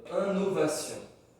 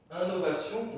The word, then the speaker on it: innovation: ici je dis pas un novation invention innovation non et ici 1 parce qu'après le N on a une voyelle donc selon la construction